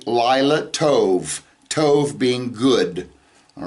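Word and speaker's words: לילה טוב: speaking, if they're saying good night, they'll say Lila Tov, Tov being good, all right? So Lila Tov, good night.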